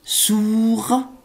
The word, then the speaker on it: sourd: Être sourd. لا تنطق D.